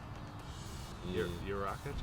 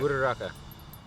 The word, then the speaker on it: Uraraka: Because everyone, like, especially like in the last episode, I don't know how to pronounce her name. Uraka champ? Uraka? I think so. Yeah. Uraraka.